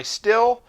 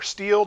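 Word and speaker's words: Stihl: my initial thoughts on my still or steel depending on how you pronounce it br 800c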